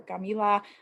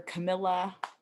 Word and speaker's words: Camila: My name is Camila, or Camila, particularly, or Camilla, rhymes with vanilla, salmonella, unfortunately.